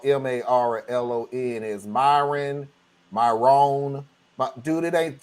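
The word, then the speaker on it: Marlon: out how m-a-r-l-o-n is Myron Myron but dude it ain't special it's it's two syllables bro let's go it ain't never changed since the beginning of the alphabet m-a-r Mar l-o-n lawn come on no your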